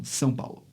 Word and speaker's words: São Paulo: They would just do the nasal diphthong, São Paulo. Right. Yeah. Well, it's a different vowel too, right? So if you have like the San Rafael swell, that's just in southern Utah. It's San, but it's spelled the same way as San Paulo. And for me, it's San Rafael swell and San Paulo. Even if I don't have the nasal vowel, it's still a different vowel because that's how